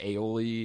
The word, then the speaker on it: Aioli: How do you pronounce it? Aioli.